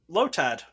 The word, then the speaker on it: Lotad: want to watch podcast because of you Dan lotad and I probably said it wrong lotad lad lad l or lowjack lotad I'm pretty sure you said it right which one you want to pick lotad okay good job buddy Dan armor fossil or